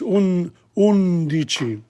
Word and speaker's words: undici: Notice undici. There are 3 syllables there. U-N-D-I-C-I. Undici. Dodici.